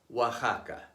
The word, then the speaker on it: Oaxaca: those of Aztec origin an X between two vowels is pronounced like the Spanish J Mexico Mexicano Tejas Oaxaca why the traditional Spanish